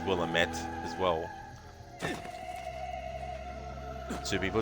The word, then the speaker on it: Willamette: how I've always pronounced Willamette and I think even in Dead Rising 2 Tyrone King says Willamette as well two people it's an uncomfortable amount of emphasis on the am will aim it will